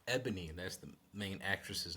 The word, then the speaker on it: Ebony: I'm sorry, Ebony Edison, Ebony. My apologies, Ebony. I've been saying her name wrong. Ebony.